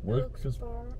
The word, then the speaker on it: Wilkes-Barre: Wie spricht man es nochmal aus? Wilkes-Barre.